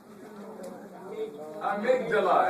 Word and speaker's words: amygdala: How do you all pronounce this? Amygdala.